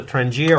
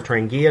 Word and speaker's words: Trangia: This is called a Trangia or Trangia, depending on the pronunciation.